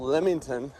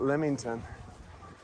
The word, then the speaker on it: Leamington: And again, this is a little town called Leamington, just pronounced just like that, Leamington.